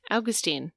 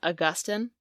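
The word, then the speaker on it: Agustín: body means well exactly Austine I know that would like to americanize it as Augustine but technically it's Austine all right here we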